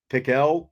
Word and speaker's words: Pickell: Apparently, it's Pickell. Pickell is how it's said.